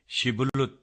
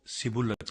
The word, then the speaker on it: شبلت: اگر وہ جواب دیتا نہیں تو وہ اس سے کہتے شبلت تو بول، تو وہ سبلت کہتا، کیونکہ اس سے اس کا صحیح تلفظ نہیں ہو سکتا تھا۔ تب وہ اسے